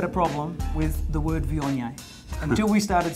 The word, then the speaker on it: Viognier: We have got always had a problem with the word vion until we started spelling it phonetically.